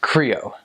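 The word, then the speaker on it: Krio: They speak Creole, it's spelled K-R-I-O.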